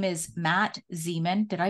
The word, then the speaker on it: Zemon: have a special guest his name is Matt Zeman did I pronounce that right Zan you did you okay